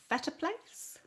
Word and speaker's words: Phettaplace: today is how do you pronounce your surname is it better place yes i can't believe you actually pronounced it right most people don't yay